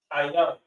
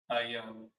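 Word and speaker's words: עין: So the eye is pronounced ayan. Ayan. Ayan.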